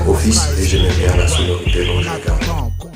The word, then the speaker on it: Ophis: mon nom de famille j'ai appris que Snake serpent ça se prononc office et j'aais bien la